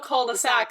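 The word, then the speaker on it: culs-de-sac: But they have a whole thing about, like, how in French, the plural of cul-de-sac is cols de sac, but the S, you don't pronounce it, so it's just... Oh, it's still cul-de-sac, so what's the point?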